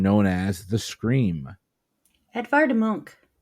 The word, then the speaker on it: Munch: as the scream edar Monk Ed monk is correct I'm sorry we had Edward Munch Edward Munch um so I was at a thing and somebody pronounced it Munch and I'm like I